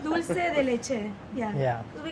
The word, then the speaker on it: dulce de leche: Because I feel like Argentinians pronounce it dulce. Dulce. Dulce, yeah. Dulce. But like, I can't say it like I can that. do Rick's accent. Dulce. But no, it's dulce de leche.